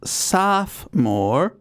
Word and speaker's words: sophomore: pronunciation is listed as saphmore oh my god so i wasn't sophomore yeah yeah but the british pronunciation in fairness to matt is listed as having three syllables because i was having